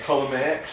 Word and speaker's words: Ptolemaics: The one where the P is silent. The piece. The one with the P is silent. Yes. The Ptolemaics.